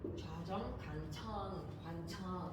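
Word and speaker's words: 좌정관천: 좌정 관청이라고 발음이 좀 적다. 앉을 자자에다가 하늘 천자지. 니은이랑 이응이랑 발음이 쌤은 늘 중성해서 약간 일본식 발음같이 그렇게 좌정 볼관자에 하늘 천자 좌정 관천 근데 방금 청이라고 하거든요. 관천입니다. 좌정 관천.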